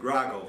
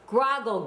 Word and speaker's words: Groggel: Um, well, we pronounce it groggle here. Grogle.